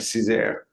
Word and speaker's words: Cesar: That's right, Cesar.